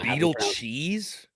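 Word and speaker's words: Beidelschies: Gabe Gakle, Brent Irale, Kosell, Landon Beetle Cheese. Just so we're on record now. Beetle cheese. Beetle cheese. That's how I've That's how Arkansas fan told me it was pronounced.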